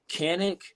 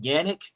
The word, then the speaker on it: Canik: you're good but um canic it's actually pronounced yannick it's a it's a